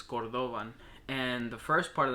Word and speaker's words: cordovan: back in Spain cordovan the actual pronunciation for it is cordovan and the first part